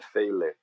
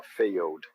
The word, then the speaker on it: failed: Então ele vem apenas como um som de D, não tem som de E, né? Então o que eu vou pensar aqui? O que eu não vou fazer? Querer pronunciar esse E grudado no L, fazer faile. Eu vou pular do L pro D, ó.